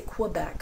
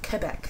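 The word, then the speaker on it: Québec: Quebec I don't say Quebec I say Quebec that's Quebec qua Quebec it's a it's the French way to pronounce it I'm not even pronouncing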